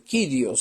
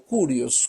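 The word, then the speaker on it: κύριος: Ese es el señor el kirios o curios cualquiera sea las dos pronunciaciones en esta palabra griega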